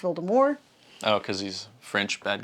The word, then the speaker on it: Voldemort: Not Voldemort, even though that's how it's spelled. It's pronounced Voldemort.